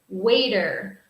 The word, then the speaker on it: waiter: word is waiter waiter remember in American English in American English this T sound sounds like a D sound waiter waiter okay also we